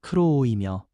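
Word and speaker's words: κρούω: 여기서 두드리다라는 헬라어 발음은 크로오이며 계속 두드리며 인내하는 모습을 담고 있습니다.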